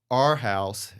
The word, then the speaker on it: Arhaus: It's pronounced like A-R-E, Arhaus, and not with an O.